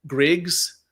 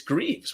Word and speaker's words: Greaves: It's Greaves, but I've had people pronounce it so many ways that are incorrect. People say Griggs, Greeds, like with a D, and I'm like, no, it's Greaves.